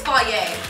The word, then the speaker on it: Fage: I think it's Fage.